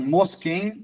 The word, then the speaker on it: Moschen: região lá do Tirol, Dom Mosquem, é assim que pronuncio o meu sobrenome.